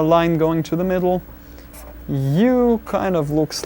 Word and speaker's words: ы: Then a ugly sounding but commonly used vowel u, like being hit on the stomach and go So u.